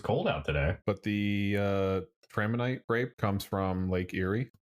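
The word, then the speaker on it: Traminette: It's Traminite grapes. Traminite.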